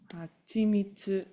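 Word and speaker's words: 蜂蜜: Hachi mitsu. Oh, yes. Perfect. Let's go read the line from the book. Mo hitotsu. One more thing. Hachimitsu o kakete tabete kara bacon mo non some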